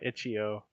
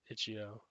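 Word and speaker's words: itch.io: iio we say uh ichio sometimes Ito there we go D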